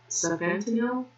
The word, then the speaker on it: sufentanil: So sufentanil, and so sort of like sounds like fentanyl.